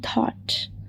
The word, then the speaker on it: thought: Select the silent letter in thought.